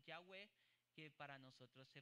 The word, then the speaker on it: Yahweh: Son las letras hebreas que traducen, que se pronuncian Yahweh, que para nosotros se pronuncia Jehová.